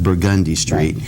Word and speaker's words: Burgundy Street: for example in the French Quarter you have burgundy Street which is pronounced burgundy straight and there's a real